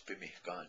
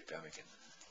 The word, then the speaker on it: pimihikan: But it's pimihikan is how you say it properly.